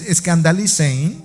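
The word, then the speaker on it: σκανδαλίζειν: La palabra griega traducida como causa de pecado, que es como aparece traducida en algunas versiones, es escandalizein, sería la pronunciación en español, que significa el hacer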